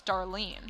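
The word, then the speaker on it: Darlyn: do you spell my name my name is Darlene how do you spell my name I don't know how to pronounce her name to be honest with you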